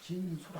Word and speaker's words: 辰宿: 그러나 우리 천자문 읽을 때는 진수라 해요. 숫자도 이게 이제 원래 잘 숙자라 그랬죠. 숙박한다 할 때. 그런데 별 이름을 말할 때는 숫자라고 읽어야 돼.